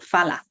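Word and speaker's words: phala: teacher and then he said that usually we pronounce it as far so fala the first stage of Enlightenment then we have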